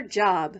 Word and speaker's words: Job: her job, which in the Bible is pronounced Job.